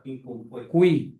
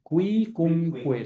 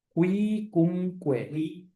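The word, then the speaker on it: Quicumque: Pero Quincuncué. Cuicunque. Se pronuncian todas las U. Cuicunque.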